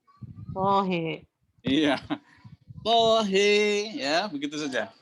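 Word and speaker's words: طه: Gimana bacanya? Tohe.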